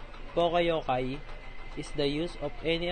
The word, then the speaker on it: poka-yoke: Also called poka-yoke, well saying mistake cropping, or its Japanese equivalent, poka-yoke, pronounced poka-yokai, is the use of